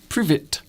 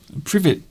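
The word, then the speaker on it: привет: Privet. I'm joking. Privet is hello in Russian. I didn't know that. It's also, that same pronunciation is a bush.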